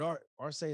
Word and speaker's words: R-Say: be like well damn i heard i heard art or say is that how you say it yeah okay